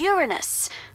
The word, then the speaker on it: Uranus: jokes about Uranus besides the proper pronunciation is Uranus it's a dactyl sorry Friday hey I'm